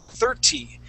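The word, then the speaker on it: thirty: So it's spelled with a T at the end, but in most cases when we have a TY ending, okay, that T is then going to turn into a D sound.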